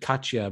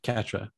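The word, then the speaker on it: Catra: You know, I almost said Katya, but Katra, yeah. Well, Katra's a Vulcan react? Thing. Oh, Katra, they said, yeah, Katra.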